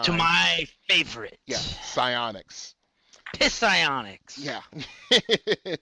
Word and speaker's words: psionics: Yeah, psionics. Psionics. Yeah. No, the P is silent. Remember that.